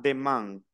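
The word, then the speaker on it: demain: la siguiente palabra a demand a i n como les dije que se pronunciaba a i n Oh an nasal una a y una n pero nasal an No necesariamente me tengo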